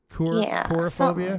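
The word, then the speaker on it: coulrophobia: is the phobia uh Kura phobia yeah it's spelled c-o-u-l-r-o-p-h-o-b-i-a chloroform but it's pronounced cool c-o-o-l cool uh Andrew says color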